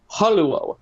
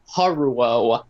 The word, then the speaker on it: Haruo: When people call him, it's pronounced Haruo, not Haruo.